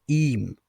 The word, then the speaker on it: ihm: If we have the letter H after the letter E, then the letter H is not pronounced, but the E is longer. For example, ihm.